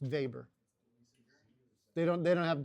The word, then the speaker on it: Weber: He was German, so his last name would have been pronounced Vber. They don't they don't have W's. Their W's are pronounced V's. Vber.